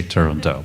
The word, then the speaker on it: Turandot: yet another possibility but we just made a decision that we would not pronounce the final t and so far we